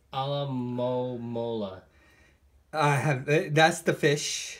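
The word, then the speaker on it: Alomomola: I can pronounce that for you, sir. It's Alamomola.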